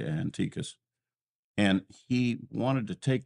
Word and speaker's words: Antiochus: And some people pronounce it Antiochus, I say Antiochus.